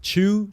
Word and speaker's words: Chu: You can just type my name, Chew. Chew is spelled C-H-U, not C-H-E-W, that a lot of people have done.